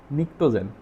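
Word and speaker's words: pnictogen: আছে এগুলাকে বলা হয় নিকটোজেন নিক্টোজেন বানানটা হচ্ছে পি দ্বারা শুরু হয় এন আই সি টি ও জি এন নিক্টোজেন নিক্টোজেন মানে হচ্ছে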